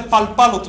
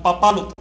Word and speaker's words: papalote: El primer elemento pierde la consonante. Ya les puse el ejemplo de papalote. No se dice palpalote, sino papalote. Se dice pipilsi, no pilpilsi, etc.